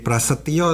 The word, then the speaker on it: Prasetijo: Perkenalkan nama saya prasetijo Kamis sama seperti Yudi karena ejaan lama jadi Prasetyo seharusnya tapi jangan lama jadi prasetijo Jadi paginya ada